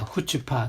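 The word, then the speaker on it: chutzpah: 사실 HUTGPAH 하는 것이 더 정확한 발음입니다. 후츠파.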